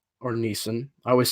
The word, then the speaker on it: Neeson: Where I like Liam Nielsen or Neeson. I always say it wrong. I always say Liam Nielsen. It's Neeson.